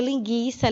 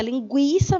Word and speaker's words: linguiça: cuja pronúncia ainda continua dada né a gente pronunciou tá bom então você não lê linguiça linguiça mesmo esse creme era justamente para marcar o